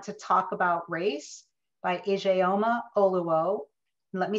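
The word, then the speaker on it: Ijeoma Oluo: so you want to talk about race by ajayoma oluwo let me spell that i j e o m a that's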